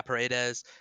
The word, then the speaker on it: Paredes: They traded, yeah, Paredes.